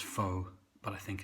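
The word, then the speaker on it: phở: So today is going to be Covid-19 Beef Pho, which I'm going to pronounce pho, but I think it's supposed to be pho.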